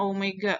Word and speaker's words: Omega: umega ya kayak gue tapi bukan weyya bacanya Omega Omega nya konstan dan